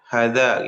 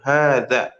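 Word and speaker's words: هذا: Nah, hannya harus panjang ya, Ikhwan ya. Karena dia itu nanti ee biasanya dibacanya itu kadang ya ada yang dibaca pendek hadza gitu. Yang benar itu hadza.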